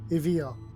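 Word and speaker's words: Aeval: on her so actually if you listen to the pronunciation of the name it sounds like evil oh really yes and it's angelicizes a-e-v-a-l evil evil i'm like oh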